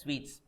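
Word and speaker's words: suites: room sweets single room SU i t s sweets yes single room sweets fine guys yes done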